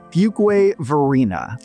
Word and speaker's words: Fuquay-Varina: Next up at number four, we have everyone's favorite city to pronounce, Fugway Verina, which has seen explosive growth in the past decade.